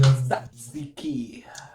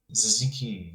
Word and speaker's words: Tzatziki: There's not the need for emphasis in like every syllable of that word.